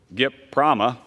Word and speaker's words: GPRAMA: by a Reform Act known as GPRAMA, GIPRAMA, as it is noted in my notes here, phonetically.